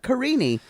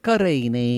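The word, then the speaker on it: Karine: I think it's we hear that E, that kind of that non-accented E sound at the end of a lot of words in Portuguese, and I think that's how they're pronouncing things.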